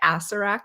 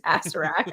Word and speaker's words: Acererak: Yeah, I pronounce it wrong every single time because I leave out the second set of ERs yeah, in the middle, and so I wanna yeah, call him, like, Acererak, but he's actually, like, a Sarah, and I'm like, yeah, yeah.